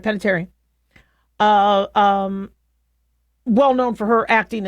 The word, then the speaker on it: Panettiere: So Hayden Panettiere, how about I pronounce it right? Panettiere.